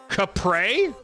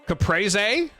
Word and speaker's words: caprese: Capre? It's called Capre? That sounds way worse. How are we going with that pronunciation? Capre. Caprese? It's called a caprese salad.